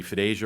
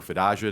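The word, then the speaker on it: FDASIA: as part of the FID Asia or fidia depending on how you like to pronounce it and the PFA legislation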